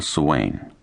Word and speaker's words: Swain: There are Judith and Jonathan Swain, the woman and the man of the house to be.